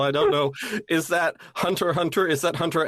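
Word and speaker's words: Hunter × Hunter: they fell in love and you got some Hunter X H Hunter fanfiction oh my God oh it's pronounced Hunter Hunter I know shut the up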